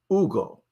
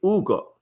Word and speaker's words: Hugo: He goes by Ugo. He said, "Call me Ugo." The H is silent. It's Ugo.